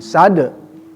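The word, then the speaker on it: صاد: Jadi dengung juga masuk ke mim sad. Ya, pengucapan sin ya. Itu pertemuan dua bibir ya, dengan ujung lidah. Sad, jangan syad. Awas hati-hati ya. Bedakan antara sa, sya, tha. Ya, huruf jelas beda ya.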